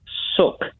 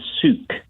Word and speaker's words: Suk: in uh again because my name is actually pronounced suck rather than Suk I don't think I